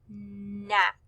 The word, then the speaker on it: knack: k n sound but since the k is silent we just hear not knack on number four this